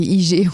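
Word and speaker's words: hygge: dit voilà en français on l' écrit h y g g pour les gens parceon dit pas HUG on dit IG je sais pas trop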